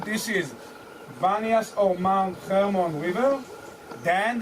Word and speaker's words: Banias: When they come here in the Arabic alphabet, there is no P, there is only B. So they pronounce it, instead of Paneas, the city of Pan, they started to name it Banias.